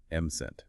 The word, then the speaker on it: mustn't: And remember that silent T when you say it. M-cent.